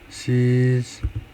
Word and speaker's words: cease: cease, sorry.